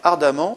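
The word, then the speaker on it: ardemment: e M e nt 8e exemple il désire ardamment vous aider il désire ardamment ardamment on prononce amment donc on a une terminaison en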